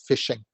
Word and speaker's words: phishing: So obviously, fish or phishing is pronounced just like the way it's spelled.